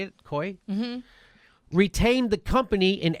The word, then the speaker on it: Coie: Elias, that's the Clinton lawyer, and his law firm, Perkins Coie, is that how you say it? Coie?